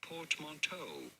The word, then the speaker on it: portmanteau: In English, it is usually said very similarly to French as portmanteau. Portmanteau from French.